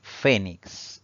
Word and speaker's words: fénix: Esta palabra tiene 3 sílabas. Al pronunciarla, la mayor fuerza de voz recae en la penúltima sílaba, siempre contando de derecha a izquierda.